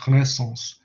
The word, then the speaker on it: Renaissance: And that should be pronounced Renaissance.